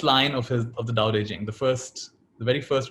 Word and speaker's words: Tao Te Ching: books the doubt aging it's written as tao te ching but it's pronounced as doubt aging and the first line of his of the doubt aging the first the very